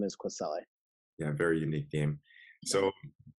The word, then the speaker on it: Kwesele: is and then the last name is queselle yeah very unique game so uh this is